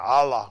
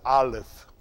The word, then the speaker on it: aleph: he's exactly right olive i want y'all saying allah you're not saying right it's the aleph y'all got it it's the olive that's it although it's spelled a